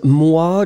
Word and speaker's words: moi: Remember that when you will combine O and E together, the sound will be wah, wah, wah, wah. Okay, so first M, M, and then after that, wah, moi, remember?